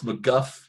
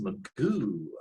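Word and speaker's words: McGough: it looks like it's uh looks like alex mcguff but it's pronounced alex magoo i read uh mcgeouf uh for uh former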